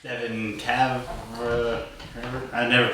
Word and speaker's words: Kavanagh: No, it's Kavanagh.